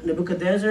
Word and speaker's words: Nebuchadnezzar: years he actually was working with nebuchad dancer Nebuchadnezzar how you say that that's how you say